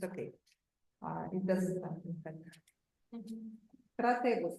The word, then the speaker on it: Crataegus: Кратегус, короче, не критагус. Кратегус. Ну так читается, Кратегус. Пишется так, Да, Кратаегус пишется. Читается Кратегус. CRATAEGUS.